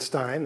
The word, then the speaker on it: Rosenstein: My family, my father pronounces it Stein. That's how I pronounce it. But I actually have relatives who pronounce it Steen, so I'll answer to either one.